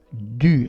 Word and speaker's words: du: Du, attenzione alla pronuncia, du.